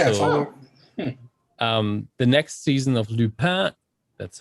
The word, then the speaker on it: Lupin: Also, the next season of Lupin, that's how you pronounce it, is also online by now.